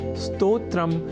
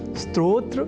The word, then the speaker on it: स्तोत्र: अर्थात स्तोत्र में अर्ध सकार के बाद त और ओ इन दो अक्षरों का संयोग है। और इसके बाद त्र इस संयुक्त अक्षर का। यदि हम यह ध्यान में रख लें तो कभी भी स्तोत्र के स्थान पर स्त्रोत्र या स्त्रोत जैसे उच्चारण या लेखन हमारे प्रयोग में ही नहीं रह सकेंगे।